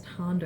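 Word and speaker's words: Thando: The H is silent. I always love to say to people, think of like Thomas. You don't say Thomas, you say Thomas. So, just skip the H and you're good.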